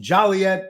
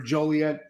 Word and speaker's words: Joliet: Minnie sending that in from Joliet or Joliet, depends how you pronounce it or what day of the week it is.